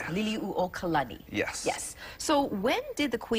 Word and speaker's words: Liliuokalani: For the longest time, I said her name wrong, and I would say Liliuokalani, but it's Liliuokalani.